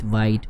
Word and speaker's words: Vite: through to choose the vit. You can say vit, vite, what the pronunciation you're preferring.